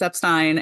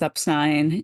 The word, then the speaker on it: Epstein: Fortune Lloyd because uh that's not how you say it it's Epstein and today you guys are going to get to hear if you haven't already our episode about exactly why it is upstein and the two long